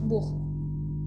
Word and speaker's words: Buch: Nah, kalau huruf CH di akhir kata, dibacanya seperti H. Beispiel, contohnya das Buch, artinya buku.